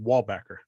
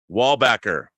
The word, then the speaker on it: Wallbacker: Yeah, and it's pronounced Wallbacker. Wallbacker.